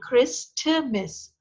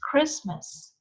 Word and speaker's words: Christmas: letter d is silent you will not take out the sound of t you will not pronounce it chris timmis it's christmas christmas english history little